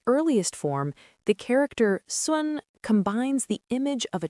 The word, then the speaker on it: 孙: It is pronounced in the first tone. Repeat after me. Sun, Sun, Sun.